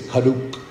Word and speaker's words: Karuk: go ahead and correct everybody cut up is pronounced with a silent r so it's not Peru it's karuk so just to get that straight you know